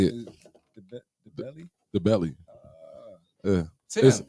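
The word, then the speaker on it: Ndebele: The belly. The belly. The inner silent.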